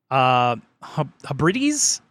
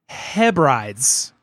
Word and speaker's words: Hebrides: But the howler of the week last week was 2 weeks ago was Adrian's pronunciation of the Scottish Hebrides archipelago as Hebrides instead of Hebrides.